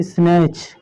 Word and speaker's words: snatch: और एक एग्जांपल देखना हो तो देख लीजिए, SNATCH, क्या है, CH, इसको पढ़ते हैं स्नैच।